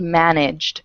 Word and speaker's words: managed: word managed for example when manage is by itself it ends with e but the E is silent right so the sound at the end of manage is that G and G is voiced so since it's voiced managed ends with a hard D sound so I actually everything